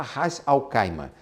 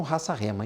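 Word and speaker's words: Ras Al Khaimah: Alguns fala r alcaima, se até se escreve rais alcaima, mas eles aqui falam raça rema. Então vou falar igual a eles também. Raça rema.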